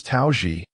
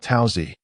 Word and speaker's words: Tao Xi: He was Tao Xi, not Taoi.